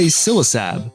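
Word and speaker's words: Ksilisab: Well, it evolves into a Silasab, the poison dragon type Basilisk Pokemon, and the K in its name is silent, but it's also Basilisk backwards, just like the previous naming theme for this entire line.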